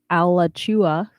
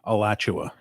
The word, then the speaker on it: Alachua: Oh, well, either way, Alachua County. Alachua.